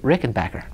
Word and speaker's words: Rickenbacker: the company that makes Rickenbacker --zz says you pronounce it Rickenbacker and so I'm thinking I should start pronouncing it Rickenbacker yes I wonder if it's because we're all